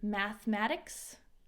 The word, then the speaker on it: mathematics: I love to learn about all kinds of subjects such as history, geography, mathematics, so we don't pronounce this E, mathematics, you name it.